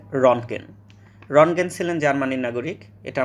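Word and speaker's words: Röntgen: হ্যাঁ, ঠিকই শুনেছেন, ইংরেজি এবং জার্মান ভাষায় সঠিক উচ্চারণ হচ্ছে রনগেন।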